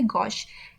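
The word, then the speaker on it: gauche: इसका प्रोनाउंसिएशन क्या है? गॉश, G A U C H E, गॉश, ठीक है।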